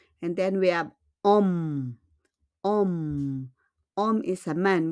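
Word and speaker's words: homme: And then we have Om. Om. Om is a man. We don't pronounce the H, okay?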